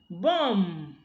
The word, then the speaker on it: bomb: call me the plumber bomb he bombed the house he's not bombed okay so you can now see that but is deleted when it occurs with a nasal and the nasal is usually M all right so when